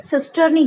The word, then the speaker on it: cisternae: Spelling में यहाँ मिस्टेक है, CISTERNAE, ठीक है, सिस्टर्नी कहा जाएगा इसको।